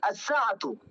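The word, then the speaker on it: الساعةُ: The i'rab will be as-sa'atu. Okay? As-sa'atu, not sa'atun.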